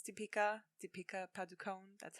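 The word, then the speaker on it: Padukone: you pronounce the name is that how we pronounce typica de pica paducone that's how i say her name and she's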